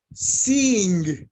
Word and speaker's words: seeing: And the pronunciation, y la pronunciación, it's like double e, se hace como si fuera doble i. Seeing, doble i, seeing. Fleeing, agreeing, porque la doble e junta suena como i.